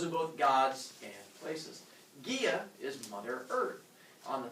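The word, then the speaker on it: Gea: went one okay okay Gia G EA not pronounced G even though I'm sure that makes you giggle it was pronounced Gia and Gia raise your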